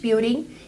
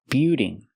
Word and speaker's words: building: used to store Goods the word is not pronounced beaing it's pronounced Bild building building use the short I sound like this is plus the dark L Bill building building a warehouse is